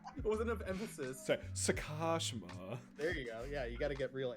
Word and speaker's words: Sakashima: did not pay right it wasn't of emphasis sakashima there you go yeah you gotta get real